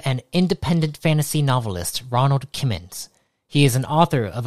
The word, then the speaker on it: Kimmons: That's how you pronounce it, right? Kimmons? Yeah, Kimmons, yep.